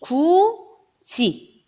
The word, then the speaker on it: 굳이: 자, 굳이는 발음이 구지 요렇게 나요.